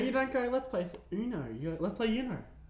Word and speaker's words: Uno: definitely Uno. It's Uno. It's not it's Uno. It's Uno. It comes from the Spanish You're word wrong.